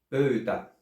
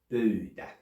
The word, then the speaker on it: pöytä: One of them is a back vowel diphthong, pouta, while the other one is a front vowel diphthong, pöytä. And the more specifically you pronounce it in the back or in the front, the more unambiguous you